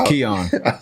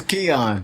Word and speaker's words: Kian: with Kion man you said it right the first time it Keon how you mess it up the second time it's Keon cuz that I man